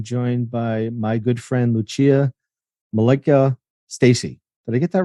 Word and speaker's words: Lucia Milică Stacy: I'm your host, and today I am joined by my good friend Lucia Milică Stacy. Did I get that right? Did I pronounce Yes, that you right?